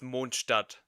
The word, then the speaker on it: Mondstadt: They instead rely Mondstadt, which is based on medieval Europe. Which does not look like medieval Europe. And it's technically German, so it's actually pronounced Mondstadt.